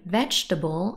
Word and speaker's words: vegetable: one is stressed breakfast comfortable and vegetable have both three syllables and the first syllable is stressed comfortable not comfortable no